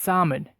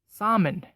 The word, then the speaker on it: salmon: broccoli down to our third food word it's salmon yes that big tasty fish that lives in